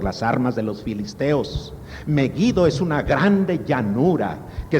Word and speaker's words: Meguido: que se refiere a meguido o megido mejido la pronunciación correcta es la g fuerte meguido meguido es un valle